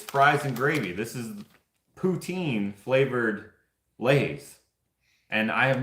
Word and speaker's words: poutine: this is just in Canada I'm assuming cuz poutine is a is a Canadian thing it's actually pronounced poutin which I freaking hate I didn't